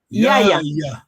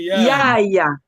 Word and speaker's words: Yaya: Yaya. Prononcez bien Yaya. Sinon tu parles l'anglais là.